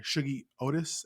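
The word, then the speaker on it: Shuggie Otis: would say you need to look up is Shuggy Otis. Sorry, Shuggy Otis, and it's spelled Shugggie, and then last name Otis.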